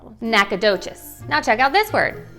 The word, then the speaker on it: Nacogdoches: Okay, so the next word you'll commonly hear from people like me called Nacogdoches, however, it's pronounced NACA Duchesse.